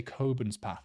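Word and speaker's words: Cockburnspath: that's not all but you say coin's path apparently there we go okay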